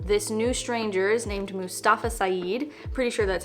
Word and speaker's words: Mustafa Saeed: This new stranger is named Mustafa Saeed, pretty sure that's how you say his name, and he essentially tells our narrator his life story.